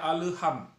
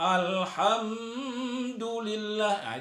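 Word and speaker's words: الحمد لله: Allah alhamdulillahirobbilalamin Alhamdulillah dakwah dipantul banyak orang membaca Alhambra tidak boleh itu salah Jadi alham ha emudian me mati bertemu dengan huruf Dal itu izhar syafawi tidak boleh berdengung banyak orang membacanya ya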